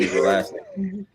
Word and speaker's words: Escalera: because I didn't even try to get the pronunciation escalera Alex Gill um yes so I I think